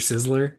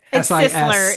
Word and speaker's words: Sisler: Well, I think it's Sisler like sisler. Yeah, it is sisler.